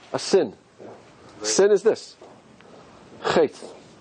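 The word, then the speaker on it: חטא: Chet. Chet. Which letter is silent?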